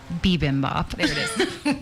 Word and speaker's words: bibimbap: never say it right of the bowls Oh bibimbap even Bob and so we did that that